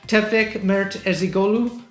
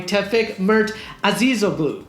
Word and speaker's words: Tefek Mert Azizoglu: content brief generator by tefek mertesigolu i totally butchered your name i'm sorry tefek mert azizoglu there we go that's better i think sorry tepik